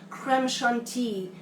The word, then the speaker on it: crème chantilly: cream, the chantilly cream, or crème chantilly, as would be the correct French pronunciation.